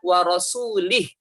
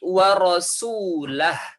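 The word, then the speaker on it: وَرَسُولُهُ: Barry Um Minal musyrikin warosulih dengan memangkas loh kan huruf lam lu kata Umar bin khotob waiara Baduy bukan seperti itu bacanya bukan warosulih tetapi warosulahu ya'anallah ha dari Um Minal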